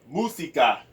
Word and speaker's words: música: And then when you say música, música, música in Filipino, and Filipaiian you say música, música in Filipaiian, and then in Spanish is música.